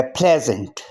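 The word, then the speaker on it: pleasant: यहाँ भी एस जेड की आवाज़ देगा, लेकिन यहाँ ई साइलेंट है। पी एल के बाद जो ई लिखा है ये साइलेंट है, लिखा जाएगा, आवाज़ इसकी नहीं होगी।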